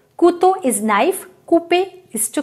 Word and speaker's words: couteau: N number of times whenever O-U-U will come, we have to pronounce it like oo only. Toujours. Always. Always, right? Next example is Couteau.